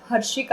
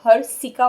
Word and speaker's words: हर्षिका: बोल रहा है जैसे मेरा नाम हर्षिका है श है लेकिन कुछ लोग उसे हर सिका बोलते हैं क्यों क्योंकि उनको श